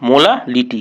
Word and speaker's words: मोलालिटी: देखो अगले सेक्शन में है ये जो मोलारिटी। तो मोलारिटी मतलब क्या होती है? देखो हमने पहले देखा मोलारिटी, अब हम देखते हैं मोलालिटी। क्या देखते हैं हम? मोलालिटी। ये प्रोनाउंसिएशन अलग है, इसके स्पेलिंग भी अलग है।